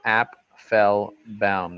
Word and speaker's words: Apfelbaum: actually listen to this my name is app fell bound that's how you pronounce my name okay so very interesting right